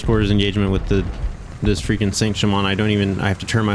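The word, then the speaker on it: Saint-Chamond: up, and according to Wikipedia, that's how you pronounce it, so I'm going to keep calling it that. I continued to use the Saint Chammond and get better with it, and, you know,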